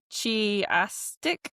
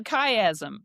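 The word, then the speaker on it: chiasm: Chastic. It's it's symmetrical arrangements in sections. That's a that's a kayazm. Kayastic.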